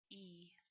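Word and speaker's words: え: is all this is e e you want to pronounce it like e as in feed like that e e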